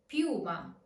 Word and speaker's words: piuma: As you can hear in piuma. Piuma. Remember, the reason this U is strong is because it is stressed. So on the dictionary, you can see that it has the accent.